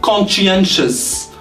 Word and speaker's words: conscientious: My new employee is truly conscientious. Conscientious. That's how we spell it. Conscientious. So conscientious. So this one here is spelled as sh.